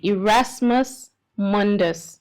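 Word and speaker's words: Erasmus Mundus: So um tell us a little bit about the how do I pronounce this correctly? Irasmus Mundus scholarship right.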